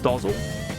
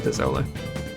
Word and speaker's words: Dezole: So, huge announcement that Dezole's name is not pronounced Dozzle. It is officially Dezole.